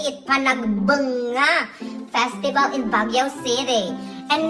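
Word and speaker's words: Panagbenga: The first box I opened, it's Panagbanga Festival. That's how you say it, Panagbanga Festival in Baguio City.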